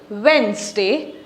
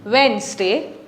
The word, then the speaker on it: Wednesday: Monday, Tuesday, Tuesday, Wednesday, Wednesday, the D is silent, Wednesday, Thursday, Friday, Saturday and Sunday.